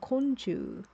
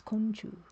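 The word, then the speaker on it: 昆虫: Konchu Art Saga says a which means group and companions and mushi the the kanji for mushi can be pronounced as chu. So it's like a group of bugs and insects. Konchu.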